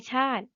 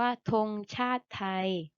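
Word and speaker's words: ธงชาติไทย: ไทย ธง ชาติ ไทย ไม่ อ่าน ว่า ชา ติ นะ คะ อ่าน ว่า ธง ชาติ ไทย ธง ชาติ ไทย มี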